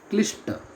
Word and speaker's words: क्लिष्ट: ठीक है, क्लिष्ट साथियों गलत लिखा है, ये है क्लिष्ट, इसका सही उच्चारण होगा क्लिष्ट, अगर ये होता तो यही तत्सम होता है, बाकी ये तो गलत हो गया है इसलिए कठिन है।